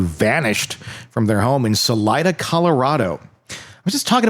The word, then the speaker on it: Salida: Is it Is it Selena or is it Salena? Salida. S A L I D A.